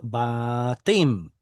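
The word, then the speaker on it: בתים: Every Israeli that I know says batim, but I'm looking at a closed unstressed syllable.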